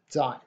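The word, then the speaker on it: 在: be located alright that's the character and it's pronounced die this is the word you say when we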